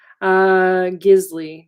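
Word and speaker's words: Gísli: Stephanie here not wrong gisli g is li accent on the first i is the god of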